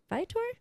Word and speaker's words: Viator: Viator?